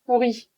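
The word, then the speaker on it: pourrie: Par exemple, avec l'adjectif pourri. Pourri, pourri. Au féminin avec un E. Bah, ça se prononce exactement de la même façon.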